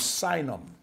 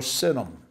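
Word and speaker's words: Sinim: these from the land of synonym or synonym either way is a proper and accepted pronunciation now again some of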